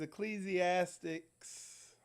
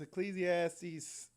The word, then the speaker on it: Ecclesiastes: this up and it's this is ecclesiastics pleasee ass teeth if I pronounced that right I'm trying okay but it's Ecclesiastes chapter 7 verse 26 and it